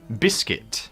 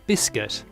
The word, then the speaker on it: biscuit: Biscuit. Biscuit. Okay, pronunciation here. Often a lot of people say biscuit. It's biscuit, like a KIT.